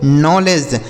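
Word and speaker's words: knowledge: यहां भी के के साथ एन है तो के साइलेंट है। तो इसे पढ़ेंगे दोस्तों नॉलेज।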